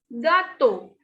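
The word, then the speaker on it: gâteaux: Next is gato. Gato. X is at the end, so we will not pronounce this.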